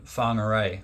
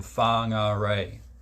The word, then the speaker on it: Whangarei: It's called Whangarei, or Whangarei. It's spelled Whangarei. In English, probably Whangarei, but it's a Maori name. In Maori, it'll be Whangarei. But or something like, maybe I butchered that.